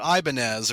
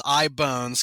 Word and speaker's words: Ibonez: models which is uh a lot of people have said oh ianz or something like that like the the musical instrument company but it's ibone bones cuzz Ian I bones